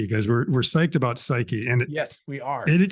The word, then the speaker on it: Psyche: have to talk about psyche because we're we're psyched about psyche and yes we are it it is pronounced psyche it's not psych I'm pretty sure it's